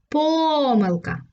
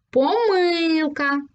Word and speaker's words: помилка: так 2 знаки наголосу адже це слово можна вимовити двома способами Давай спробуємо повторити за мною Перший спосіб помилка і другий спосіб помилка А скільки ж знаків